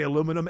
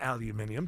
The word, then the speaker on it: aluminum: It's proper to say aluminum and aluminium. Depends on where you are.